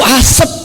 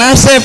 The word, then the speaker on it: asap: Itu asap bukan asep gitu. Gimana sih tulisannya asap kan? Bukan asap, tulisannya asap. Jadi harusnya dibacanya asap, ya kan?